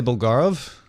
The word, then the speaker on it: Bulgarov: its designer Vitali bulgarov do you want to pronounce that better Tom Vali bulgarov did I say that right what about the